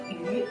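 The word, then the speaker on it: 鱼: The pronunciation of yu, fish, is the same as surplus.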